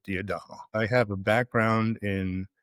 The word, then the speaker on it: D'Adamo: My name is Peter D'Adamo, although I've been told that it's a mispronunciation of the Italian surname, which is actually supposed to be D'Adamo. But I'm from Brooklyn, so here it is at D'Adamo.